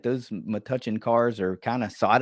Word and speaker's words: Metuchen: Metuchen. Metuchen.